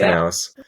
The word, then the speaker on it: Knauss: They pronounce the K. I didn't know that. Knauss.